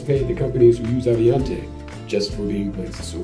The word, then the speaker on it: Avionté: stad using the briefcase in pul fiction contained aviante software they once mispronounced our own name just to see what it sounded like Avante abas avalante abas it's been said that a makes temps